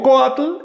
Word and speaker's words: coatl: Si digo coatl, el acento recae sobre la o. Pero si le añado esa i del sufijo tli, tendría que decir coatli y el acento se traslada y entonces aumenta una sílaba la palabra.